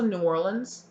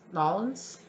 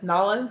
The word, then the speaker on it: New Orleans: Oh, also New Orleans. Nolans. Sorry, this person very quickly told me that's not how you pronounce it. Nolans, I'm so sorry.